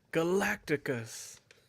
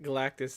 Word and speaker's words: Galactus: show stopper Sean as lab collectors came in Galacticus Galacticus I did I say it wrong I like the way I say it you say it right Galactus it's just it's a shout out from another